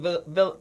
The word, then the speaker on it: vitiligo: How do you pronounce it? Oh, the one with the pronounce it for me. I think it's vitiligo.